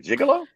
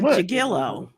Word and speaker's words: gigolo: was a male Madam is that like a gigolo no a jigilo jigilo uh Christina Fitz on